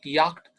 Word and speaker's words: Yacht: Yacht, German word, yacht. And you say it, same spelling in English, but you say it yacht. So it's a yacht, picture is also seen.